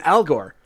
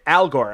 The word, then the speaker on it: algor: And and first off, I saw this word, okay, and I'm like, okay, Algor, but then I'm like, wait a minute, it kind of is this pronounced Al Gore? I check it, Al Gore.